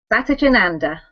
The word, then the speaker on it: Satchidananda: Satchidananda. Satchidananda Yoga Center to teach Yoga Nidra.